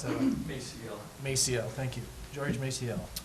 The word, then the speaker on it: Maciel: George, how do you pronounce that? Maciel.